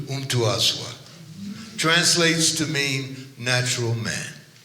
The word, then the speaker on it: Mtuaswa: That M in Swahili is like you just tasted your favorite food. So an M is not an M as in English, it's So it's Mtuaswa.